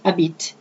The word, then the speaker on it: habite: J'habite, where you can put the apostrophe between the je as personal pronoun and habite, okay, starting with an H, which in French is considered silent as a vowel, is not pronounced, okay?